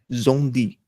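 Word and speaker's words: Szondi: Zonde se escreve S-Z-O-N-D-I, Zonde, tá?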